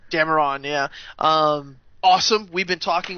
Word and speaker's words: Dameron: How do you pronounce his last name? Dameron, yeah.